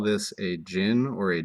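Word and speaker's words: jinn: kind of weird so a gin or you can call it a ginny with an i which sort of sounds like the word genie right and remembering these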